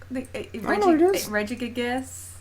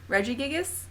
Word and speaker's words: Regigigas: many syllables in it regigigas oh it's like the register yo Reggie or whatever but it's like everything at once yeah I think so